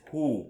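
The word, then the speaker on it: הוא: He in Hebrew you just pronounce as who. When you say he or he walked or he did this and that, you start by who. But when you say she, you just say he.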